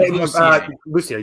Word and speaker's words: Lucier: name right I I I made it French I said luier yes yeah okay perfect